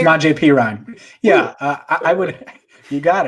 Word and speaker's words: Samaje Perine: And if he isn't, are we going to see Giovanni and Bernard and I can't even say his name, Samaje Perine? Samaje Perine.